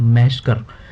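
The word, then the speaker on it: massacre: First of ऑल मास्केर ये एक noun का वर्ड है, ये एक नाउन है, और इसको प्रोनाउंस किस तरीके से कर सकते हैं, मैशकर।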